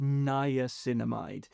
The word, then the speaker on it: niacinamide: Next is niacinamide, pronounced niacinamide, which is a water-soluble form of vitamin B3.